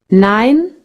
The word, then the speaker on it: nein: and is das Nicklaus nein das is niched Nicholas 9 no II I sounds like I in English think of the number nine it has the same sound and the opposite of